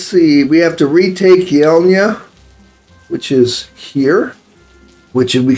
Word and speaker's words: Yelnya: have any more time go bye and uh yela is the way this is pronounced I said I wouldn't find out yela